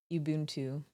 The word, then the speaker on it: Ubuntu: That's pronounced Ubuntu.